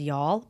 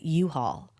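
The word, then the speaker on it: Youghal: place in County Cork which I think is called y'all but I think it's spelled like y o u g h a l l or something like that right I Pro probably anyway I said U-Haul and the whole class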